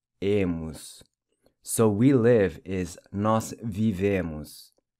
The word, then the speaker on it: vivemos: So we live is nós vivemos. Notice how the O is pronounced like a U.